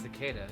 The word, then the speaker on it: cicada: or yeah how do you say it it's cicada this is cicada that's what i assumed about